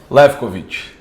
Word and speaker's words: Lewkowicz: para ele falar, porque talvez eu fale a pronúncia incorreta aqui. Lefkovic.